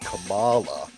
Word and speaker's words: Kamala: Because she got snubbed by rhyme with Obama, Kamala.